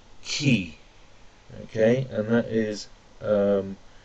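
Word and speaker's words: 木: got next is tree or wood which is pronounced key okay and that is um also moku so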